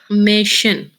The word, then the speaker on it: Mädchen: 10 मेचन सर मेचन हाँ, ड का साइलेंट कर जाएंगे ना ये मेचन Mädchen, मेशन या स्मॉल 10 मेशन आर्टिकल 10 है, 10 Mädchen, लड़की।